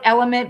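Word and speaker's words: LMNT: It's called Element, but it's spelled like with the letters L M Wait, how do How is Yeah, L M N T? And you sound it out Element.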